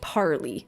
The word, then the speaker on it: parley: you guys the par this is pronounced parley right and a parlay is like a bedding term I never knew that this is parley but at least we're